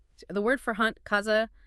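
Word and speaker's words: caza: The word for hunt, kaza, sounds like katha.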